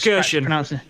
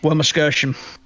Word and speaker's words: Wermelskirchen: I tried to pronounce Wermelskirchen. Thank you. Wermelskirchen.